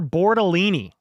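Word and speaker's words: Bortolini: Tanner Bordellini rhymes with Torellini.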